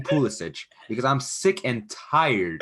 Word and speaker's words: Pulisic: wanted to say because you said his name properly pulisic i i hate the fact that this dude is so american that he can't even pronounce his own name this guy goes out and says my name is christian pulisic bro your name is pulisic your name is foolish respect croatia respect where you're from and start saying pulisic